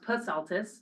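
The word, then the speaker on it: Psaltis: First of all, her name is pronounced Pasaltis, so you Oh, do pronounce the P. Pasaltis.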